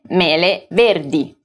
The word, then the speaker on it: verdi: apples you would say verdi verde is invariable in the plural form as well and always ends with the letter i pronounced e so if i wanted